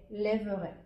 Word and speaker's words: lèverai: Et en plus pour le verbe se lever, nous allons avoir un accent grave ici sur la première sur le premier e la première signale et la prononciation va être les lèverai. Je me lèverai.